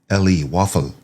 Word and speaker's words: Woffle: WOF is the actual ticker symbol, but it's spelled WOFFLE, Waffle.